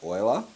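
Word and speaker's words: Euler: a negative number however now it's pronounce Oiler okay like oil developed a way to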